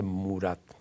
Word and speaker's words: Murat: y me dijo, "Mire, no se dice maratá, se dice murat."